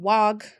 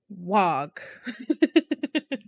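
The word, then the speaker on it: Waaagh: I know recently on my orc kick, I have been screaming wag a lot. I have been told that the G is silent. I don't believe in silent letters. Wag.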